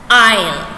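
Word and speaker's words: aisle: a-i-s-l-e it's pronounced as isle right though that is there that letter is silent okay how do you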